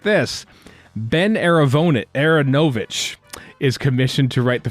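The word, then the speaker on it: Aaronovitch: He said Aronovich during the whole thing, and people pointed it out. And then he tweeted out a couple days ago, here's a clip of Ben Aronovich saying his name, Ben Aronovich. So I think we've been saying it wrong the whole time. So sorry, Ben Aronovich. Baron Aronovich is how you should be saying it.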